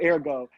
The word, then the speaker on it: Airgo: this in the beginning, called Ergo, Up in the Air, in the Go.